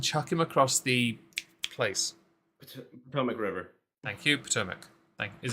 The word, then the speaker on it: Potomac: Potomac. Potomac. Thank you. I had to Yeah. guess that pronunciation.